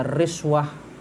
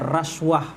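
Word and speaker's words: رشوة: Bisa dibaca riswah, bisa dibaca raswah, ya, atau ruswah.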